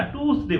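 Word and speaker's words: Tuesday: এই টুইসডে না টুসডে বলবা, আর ওয়েডনেসডে না এটা ওয়েন্সডে, হ্যাঁ, মনে থাকবে।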